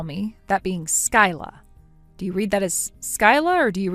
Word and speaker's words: Skyla: Gage, I was able to ask Skyla for her real name and she gave it to me. Oh, seriously? Well, she has it spelled Skyla, but you're supposed to pronounce it as Sky.